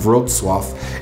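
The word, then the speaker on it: Wrocław: this point is how the name of one of poland's well-known cities of rotswaff is spelled in a way that looks nothing like how it's actually pronounced all that being said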